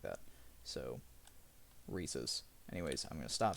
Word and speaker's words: Reese's: I used to say Reese's by accident, and some people don't like that. So, Reese's.